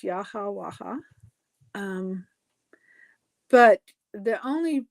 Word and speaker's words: Yahweh: Of course, I say that it's Yahwaha, but the only pronouncing that I absolutely discount is Jehovah. There's no J in Hebrew. There's no V in ancient Hebrew.